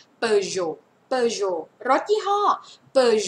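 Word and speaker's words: Peugeot: เปย เปย นะ คะ อัน นี้ เสียง โอ ตัว เต ไม่ ออก เสียง per Jo per Jo รถ ยี่ห้อ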